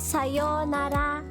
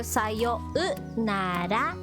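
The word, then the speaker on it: さようなら: Okay, next one is sayonara.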